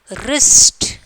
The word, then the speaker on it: wrist: Wrist. Okay, wrist. WRIST. Which letter is silent? W is the silent.